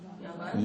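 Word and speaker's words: יוון: Yavan.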